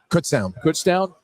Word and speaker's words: Kutztown: Is it Kutztown? Kutztown.